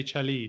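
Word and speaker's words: celli: just say chili cellos well apparently they do say chelly don't they because i guess it's an italian word originally isn't it yeah yeah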